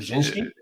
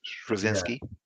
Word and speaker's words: Straczynski: How do you pronounce it? Straczynski? Yeah, J. Michael Yeah, Straczynski, Straczynski.